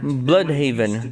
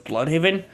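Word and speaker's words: Bludhaven: How do you say it? I pronounce it as Blood Haven.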